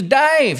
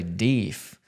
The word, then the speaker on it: deaf: And so he put it together that was the way they were pronouncing deaf, which was weird for me because I grew up hearing people say deef, but I had never heard Dave.